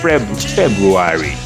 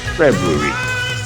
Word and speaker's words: February: Some people say February, but it's actually February, February.